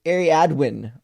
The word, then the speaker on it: Ariadwin: It says, it's pronounced Ariadwin. Love ya. Oh, so it's actually pronounced exactly the way it's spelled.